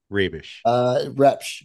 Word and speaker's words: Rebsch: Chad, because I didn't ask how to pronounce his last name. So I'm just going to say Rebsch. Rebsch. It's okay. Rebsch.